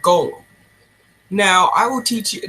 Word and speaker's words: GOL3M: known as Gomes or as it's spelled gol 3m which in turn is called goal now I will teach